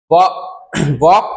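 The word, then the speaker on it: walk: वॉक carefully, वॉक carefully मतलब वॉक, अब इसको वॉल्क नहीं पढ़ना, कई लोग इसको पढ़ते हैं वॉल्क केयरफुली, तो वॉल्क नहीं, ये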